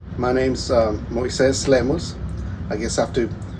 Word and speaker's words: Moises Lemus: My name's um Moes Lemos. I guess I have to pronounce it properly so people um normally we have to tell people Moses because it's a lot easier to not explain every time.